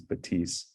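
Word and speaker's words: Bathys: h Ys of but the French pronunciation is is batis so the focal batis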